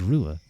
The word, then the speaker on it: Ruadh: but I I am I am from Ireland so that's where my spelling comes from. So, my name is Rua and this is Bred Rua, also known as Brua.